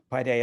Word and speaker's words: paideia: website where trustees can find that yeah paideia by day at times dot org and i'll spell it p is in paul a i d